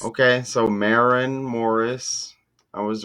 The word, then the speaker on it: Maren Morris: So, how do you pronounce this name? Marin Morris. Okay. So, Marin Morris, I was right.